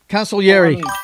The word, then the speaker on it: Consigliere: Yeah, Consigliere, counselor. I couldn't remember how to pronounce it, buddy.